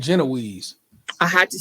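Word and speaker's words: génoise: I know it's Jinwa and I'm like the Brits in their hatred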